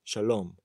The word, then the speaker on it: shalom: Ben starts by saying shalom. Shalom. Repeat the word and try to focus on the pronunciation and stressing the correct syllable.